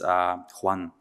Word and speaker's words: yuan: Japanese yen, but also might be the Chinese yuan, if that's how it's pronounced correctly.